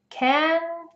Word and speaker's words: can: say you can go or you can't go can can't there you have it that is the different ways you pronounce can versus can't in sentences hopefully you